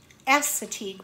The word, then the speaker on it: Assateague: it's actually called a Chincoteague Chincoteague pony or Assateague pony so I said the first the second